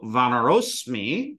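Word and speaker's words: vānaro'smi: Here, we know that this is vanaras, and then that sa fucks right off and leaves its shadow behind because there's a short a right here. So vanarosmi is how you would say it out loud.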